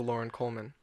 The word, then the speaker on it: Loren Coleman: it's spelled lor en sounds like Lauren to me right yeah it looks